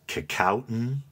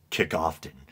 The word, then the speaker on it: Kecoughtan: But when I was trying to research it and find the pronunciation, they said one way you're never supposed to say it is Kickoffton.